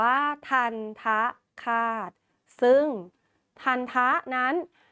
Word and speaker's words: ทัณฑฆาต: ดู กัน เลย ค่ะ ันท คาต นะ คะ อ่าน ว่า ทันทะ คาต ซึ่ง ทันทะ นั้น มี